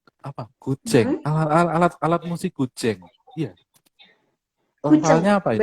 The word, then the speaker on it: guzheng: alat musik gujeng. Iya, Kuceng lafalnya apa ini?